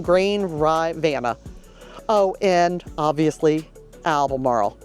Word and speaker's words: Albemarle: Oh, and obviously Albemarle. Sounds like, rolls off the tongue with an A, Albemarle, not Albemarle. So just Albemarle.